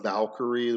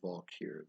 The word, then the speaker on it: Valkyr: attached to it but instead of Valkyrie which is how we use a pronounce it I just call them the valkyr v-a-l Latin evolve which is probably more of the Nordic pronunciation uh the valkyr so and it's just basically